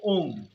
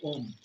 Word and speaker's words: ওম: যখন অ উচ্চারণ করবেন তখন স্পন্দন হবে পেটে। যখন উচ্চারণ করবেন তখন হৃদয়ে স্পন্দন হবে এবং যখন ম উচ্চারণ করবেন তখন গলায় স্পন্দন হবে। এটি হল ওম উচ্চারণ করার সঠিক পদ্ধতি।